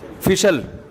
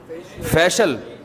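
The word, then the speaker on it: facial: फिशल फिशल फिशल फैशल अबे सही pronunciation बुलवाया करो फिशल ना फैशियल ये अमेरिका से आए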